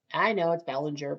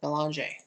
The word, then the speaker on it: Belanger: And I know it's Bellinger. But remember, I'm Canadian, so I pronounce it Belanger.